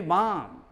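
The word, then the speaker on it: bomb: सी एम बी काम, लेकिन अपने यहाँ कहता काम, बी एम बी बाम, बॉम्ब जो बोलते हो, इसको नहीं कहो बॉम्ब, लेकिन अपने यहाँ बॉम्ब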